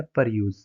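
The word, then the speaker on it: peruse: Next हमारा word है पर यूज। पर यूज यानी हम इसकी जो प्रोनाउंसिएशन है वो ऐसे करेंगे कि पर यूज, पर यूज।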